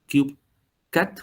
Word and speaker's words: 3Cat: Que es así como se pronuncia CubeCat, como CubeSat, ¿vale?